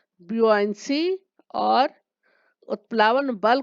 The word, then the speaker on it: buoyancy: उत्प्लावकता को कहते हैं इंग्लिश में ब्यूआंसी, BUOYANCY। थोड़ा सा अटपटा है इसका प्रोनाउंसिएशन, ब्यूआंसी।